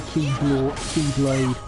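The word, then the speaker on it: χ-blade: It's pronounced Keyblade. I know. But it's written as X-Blade, so... No, that is the Japanese letter key.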